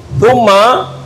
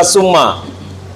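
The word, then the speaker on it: ثُمَّ: Thumma tidak dibaca summa.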